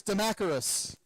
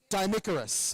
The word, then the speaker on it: Dimicarus: And in Beatles, we have the Fool versus Demacarus. Sorry, Dimicarus. I always mispronounce that.